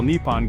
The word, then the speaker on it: Nippon: Nihon is believed to be the older pronunciation, dating back to the Nara period, 710-794 AD, while Nippon gained popularity during the Edo period, 1603 to 1868 AD.